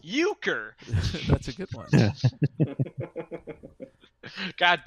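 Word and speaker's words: Uecker: general trivia Bob uker his last name is pronounced uker that's a good one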